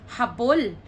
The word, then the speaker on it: habol: That's H-A-B-O-L. So the first one, the stress is in the middle. So that would be pronounced as habol.